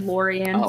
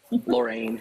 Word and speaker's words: Lorraine: never held and what it's Lorraine you said lauran so I just want to let you know how it's pronounced lorine some go ahead no